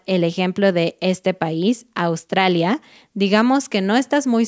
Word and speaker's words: Australia: en la pantalla a australia elimina todas las consonantes y ahora solamente escribe las vocales pronuncia decirlas sería así